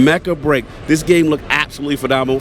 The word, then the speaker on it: Mecha Break: our eye walking past Mecca break am I pronouncing it correct that's correct Mecca break this game look absolutely